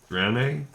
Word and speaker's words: Draenei: Whatever it is will grow on me, just like the Draenei. Yeah, I think it's Draenei, right? The Draenei. But I think I used to pronounce it Draenei.